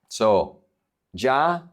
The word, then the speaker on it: soy: If the Y is at the end of the word, it's pronounced like a vowel.